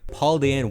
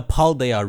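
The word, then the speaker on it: Paldea: us to the region it is called the paldaya region you wonder is it Paul Dia but in Japanese it's also parudaya okay with no ease no one say paldia like as palkia's younger brother here's pauldian Whooper chocolate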